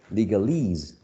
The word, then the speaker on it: legalese: Okay, so this suffix, right, attracts the stress. Legal, legalese.